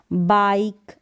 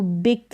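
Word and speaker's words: bike: बाइक, लाइक, माइक और time, इसको बिक, लिक, मिक या टिम करके नहीं पढ़ेंगे, रूल है इसका।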